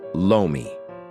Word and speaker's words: lomi: In the Philippines, lore mi is called lomi since the sound r is not phonetically present in the Chinese languages as those in the west will recognize it. Hawkins would have pronounced it as lomi. To the Filipino ear that would have simply sounded as lomi.